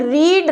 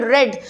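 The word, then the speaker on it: read: नहीं लगदा for example रीड रेड रेड ठीक है स्पेलिंग सबद सेम है आर ई ए डी but pronunciation तिना द अलग है रीड रेड रेड सो इस तरीके नाल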